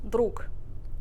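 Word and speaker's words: друг: okay we have here the word friend which is spelled Droog but we pronounce it with a voiceless equivalent Brooke Brooke yep Brooke Brooke mm-hmm okay all right next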